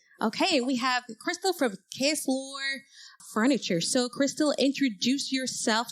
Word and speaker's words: Ksloir: Okay, we have Krystal from Ksloir Furniture.